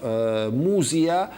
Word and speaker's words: Mysia: Muzia in Minor Asia, a land that has always been known as Mysia for some unclear reasons, because it's spelled again with the Greek ypsilon, which means U sound, not E sound.